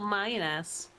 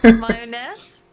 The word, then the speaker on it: mayonnaise: How about mayoness? Pain. Yeah. What do you think you said? Mayonnaise.